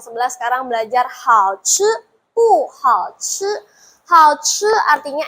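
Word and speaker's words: 不: Tulisannya B U, Bu, kenapa bacanya pu? Iya, dalam bahasa Mandarin B-nya itu dibaca P, ya. Jadi pu hao ce.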